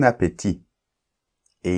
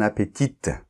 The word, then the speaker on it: appétit: la leçon 29 bon appétit et il ne faut pas dire bon appétite d'accord bon appétit on ne prononce pas le t final tu dois le savoir